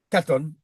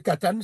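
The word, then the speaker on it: קטן: katon. Il y a Ok. soit on peut dire katan, soit on peut dire katon. Il y a les deux. D'accord. Ok. D'accord, il y a deux prononciations, voilà, c'est les mêmes racines,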